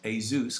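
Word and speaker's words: Jesús: Now, his actual name is pronounced Jesus because he's Spanish, but he lives in Luxembourg, so we affectionately refer to him as Jesus of Luxembourg.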